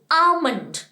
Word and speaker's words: almond: The next one, बादाम, आपको पता ही होगा बादाम क्या होता है, the spelling it's called आलमंड, ALMOND, आलमंड। नो, द L is over there is silent, it's called आमंड।